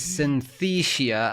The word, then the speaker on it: Synthesia: for the user is Synthesia. I always struggle pronouncing this with the 'th' there.